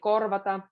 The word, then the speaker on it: korvata: And then again, korvata. There's R and a V. So emphasis on both. Korvata. Korvata. So kind of try to blend, like there's a bridge from R to V.